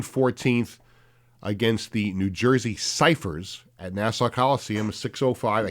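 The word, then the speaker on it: Cyphers: No, you're not pronouncing it right. Ciphers.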